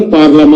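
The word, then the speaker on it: parlement: ये जो पार्लियामेंट शब्द है ये फ्रेंच शब्द है, पार्लियामेंट, पार्लामा, फ्रेंच में उच्चारण पार्लामा है।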